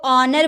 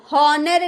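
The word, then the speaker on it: honour: ओ का पहले एच है तो ऑनर बोलेंगे। हॉनर नहीं बोलेंगे। ऑनर एच चुप है।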